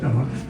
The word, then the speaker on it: Dach: It's It's spelled D A C H. But I I tell people to make it easy. It's like, "What's up, Doc?"